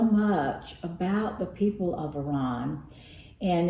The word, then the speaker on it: Iran: of her ancestry in Iran excuse me Iran I said I was not going to say it that way that's the way Americans say it kind of gets